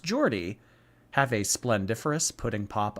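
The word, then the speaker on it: Geordie: is from Newcastle which makes him a Jordy pronounced Jordy have a splendiferous pudding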